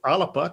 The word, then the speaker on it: Alba: So the Alba Party, or Alba, to give it its Gaelic pronunciation, will be going for the list vote, the regional list vote.